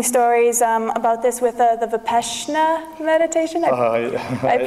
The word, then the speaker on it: Vipassana: There are amazing stories about this with the Vipassana meditation. I pronounced it right?